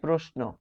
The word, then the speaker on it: প্রশ্ন: রয়েছে ন রয়েছে তাই প্রশ্ন প্রশ্ন তালবসের সাথে যদি ন বসে প্রশ্ন তখন এই তালব্যস হবে দন্তস এর উচ্চারণ প্রশ্ন প্রশ্ন এখানে র